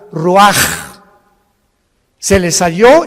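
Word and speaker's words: רוח: Y exhaló Isaac el Roach, así como suena. Se pronuncia la CH en hebreo como J. Roaj, se le halló y se traduce espíritu.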